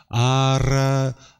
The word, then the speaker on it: ara: If you're familiar with speaking other languages, you might already have that, but there's a little bit of a rolling tongue there. That ara, ra, it's like a vibrating tongue, right?